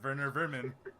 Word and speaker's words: Werner Vermin: But if because he's apparently from like Germany or something, so you pronounce the W with a V, and it's Werner Vermin.